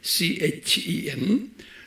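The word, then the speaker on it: חן: 히브리 말로는 CHEN 그래요. 그래서 이것을 어떤 사람들은 발음을 hen이라고도 발음하고 CHEN 또는 캔이라고 발음하고 그래요. 은혜.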